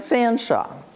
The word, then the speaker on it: Fanshawe: this is my friend Fanshawe nevermind how it's spelled pronounced a fan shop and he says and